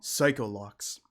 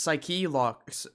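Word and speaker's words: Psyche-Lock: I suspected psycholo okay edworth is just saying it wrong psychol loocks it's psych locks Edgeworth not psycho I'm sorry man you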